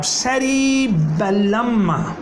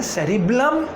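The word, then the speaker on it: cerebellum: अब hind brain का दूसरा पार्ट आया जनाब सेरिबेलम। सेरिबेलम, ठीक है, बालम नहीं होते मेरे बालम, तो बच्चों सेरिबेलम है, इसका नेम क्या है, सेरिबलम या सेरिबेलम। बेलम ज़रा याद रखोगे तो आपको इसके स्पेलिंग्स भी याद रहेंगे, ठीक है।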